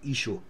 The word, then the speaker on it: Yeshua: You can use YSHO, which is just basically Yeshua, okay? Because it can be difficult to pronounce this, Yahushua Mashiach, so it's easy to say Yeshua.